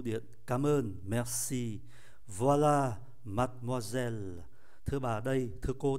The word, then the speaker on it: mademoiselle: Nhưng âm tiết ơ sau cùng, ký tự ơ sau cùng không phát âm. Âm tiết có mang ký tự ơ nằm giữa hai âm tiết khác cũng không phát âm. Như vậy là 5 còn 3.